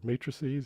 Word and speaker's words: matrices: Matrices, that's how you say it.